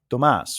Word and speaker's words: Thomas: like Thomas my name the H is silent so it's actually Tomas right but because it's